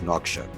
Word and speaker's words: Nouakchott: Nouakchott. Nouakchott.